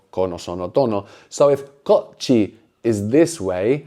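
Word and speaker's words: こっち: So this is a double consonant, which is actually kind of pronounced a bit like a Cockney T, like water. Yeah. No, kochi, kochi. So there's like a little pause there. Kochi means this way.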